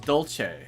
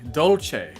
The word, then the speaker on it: Dolce: Dolce. Dolce. Dolce. Dolce. like Dolce and Gabbana, the Italian uh luxury blend brand brand.